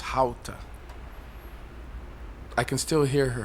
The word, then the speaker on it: Gouda: She taught me that in Dutch, Gouda is actually pronounced "How-ta".